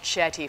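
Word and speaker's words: Chetty: looked at uh very very carefully uh Raj chaty from Harvard has done some very interesting work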